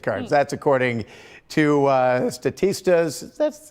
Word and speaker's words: Statista: clothing and gift cards that's according to uh statista that's how you pronounce that the consumer insights report so uh